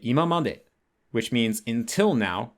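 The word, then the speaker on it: 今まで: So imamade, until now, that as a set phrase has a different pitch accent pattern where the ima part is pronounced heiban, and then it drops after the ma. So it's imamade. It's not imamade.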